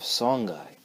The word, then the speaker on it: Songhai: Alright, here's our video on the Empire of Songhai. And that's how it's pronounced, Songhai, not Songhai.